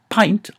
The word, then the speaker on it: pint: the answer is that I NT in English is pronounced int so we have hint and lint and flint and stint and mint and p i n pint is an exception so the the the